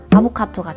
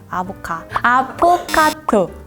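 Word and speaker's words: 아포가토: 이걸 그냥 바닐라 아이스크림으로 하면 아보카토가 되니까. 아보카토 맞아요? 아포카토. 발음이 어렵네요.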